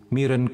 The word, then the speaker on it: miron: dengannya, ia menjadi satu miron kudus. Ini bacanya apa? Miron aja bacanya ya.